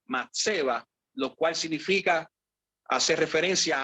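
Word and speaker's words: מצבה: Entonces, cuando buscamos esa palabra, en específico estatua, según la concordancia Strong, ¿verdad?, en hebreo se pronuncia matseba, lo cual significa, hace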